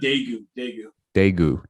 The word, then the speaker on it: Daegu: Also, by the way, it's pronounced Daegu.